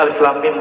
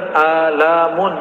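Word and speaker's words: الم: masih bahasa bumi, sedangkan Alif Lam Mim bahasa langit. Ya, semua orang Arab bingung. Kita alhamdulillah diizinkan Allah Subhanahu wa taala mendapatkan ayat-ayat seperti ini. Dan dibacanya bukan alamun.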